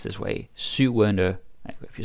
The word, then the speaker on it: syvende: Then syvende, which is pronounced this way, syvende, if you say it fast, syvende.